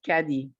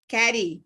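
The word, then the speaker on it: Kadi: hi la kita hi so actually my first name is pronounced caddy caddy yes so i'm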